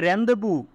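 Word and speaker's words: rendezvous: তো ফর দোসিকিং এ রেন্দেবু রেন্দেবু এই বানানটা আর ই এন ডি জেড ভি ও ইউএস রেন্দেবু মানে মিলন যারা উইথ নেচার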